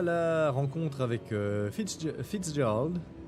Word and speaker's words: Fitzgerald: On s'en était laissé à la rencontre avec Fitzgerald. Il y a un Z dedans, mais apparemment il se prononce pas, donc moi ça me bute.